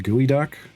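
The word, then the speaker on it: geoduck: Yeah, the Isn't it pronounced gooey duck?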